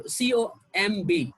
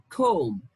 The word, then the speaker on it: comb: word this one is comb comb comb okay we don't pronounce the letter b okay the letter b doesn't have a sound in this world and